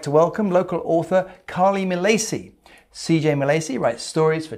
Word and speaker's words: Milacci: Milacci. Yes. Is that Italian? Yes, it is Italian, but we do not pronounce it in the Italian way, obviously.